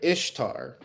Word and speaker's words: Ishtar: The pagans celebrated Ishtar, pronounced very similar to Easter, which was a day that also celebrated a resurrection.